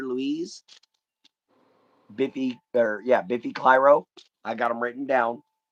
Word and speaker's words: Clyro: I can pronounce it. Biffy Clyro.